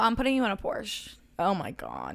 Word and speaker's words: Porsche: But I hate the Porsche's fucking headlights. They drive Porsche. That's how you say it. That's how like you're supposed to say it, but nobody.